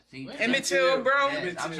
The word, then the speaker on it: Emmett Till: The Emmett Tillman. See, What? Emmett Till, bro.